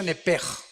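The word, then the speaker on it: נפש: Apúntala como suena nepesh con sh se pronuncia nepej.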